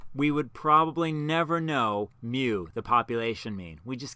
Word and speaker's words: mu: the greek letter mu spelled m u but pronounced mu so mu the population mean is about 44.52